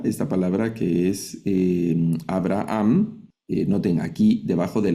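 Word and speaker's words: אברהם: Debajo de la beta hay un sheva, pero aquí no se lee, no leo Aaam, Aeraham, sino que únicamente Abraham.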